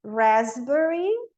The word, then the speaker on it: raspberry: O P em raspberry, receipt, não falo P.